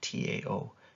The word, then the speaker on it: Tao: Like, so it's pronounced like as if it's a D, but it's spelled with a T, like Tao, Taoism, right?